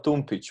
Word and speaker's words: Tumpić: pronouncing your name mm-hmm so what do you think how how it pronounces so it's a slap slap yeah okay so it's tune pitch but you can call